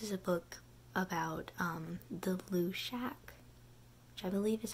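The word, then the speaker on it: Luidaeg: It's, like, L-U-I-D-A-E-G, but in the pronunciation guide at the beginning of all the books, it's pronounced Lushak, so that's what we're going with. The Lushak asks Toby, hey, can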